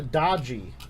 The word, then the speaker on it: Doogee: It's pronounced Doogee.